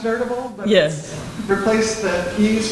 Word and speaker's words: N3rdabl3: It's pronounced Nerdable, but Yes.